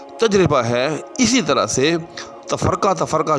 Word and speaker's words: تفرقہ: ہے، اسی طرح سے تفرقہ جو ہم کہتے ہیں اس کا درست تلفظ جو ہے وہ تفرقہ ہے، یعنی فاعل۔ جی ہاں، یعنی بالعموم اس کو تفرقہ فعول کے وزن پر بولا جاتا ہے، تو ایسا نہیں ہے، بلکہ تفرقہ فاعل، تفرقہ علم۔ تو جب بھی